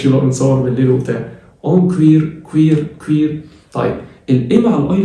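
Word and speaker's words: cuir: اون كوير عندك العكس، اليو لو جيت بعديها اي تتنطق وي، وي زي ما علي ربيع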